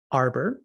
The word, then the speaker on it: ARDBOR: ARDBOR, where I'm choosing not to pronounce the D, where artifact dependency is made boring.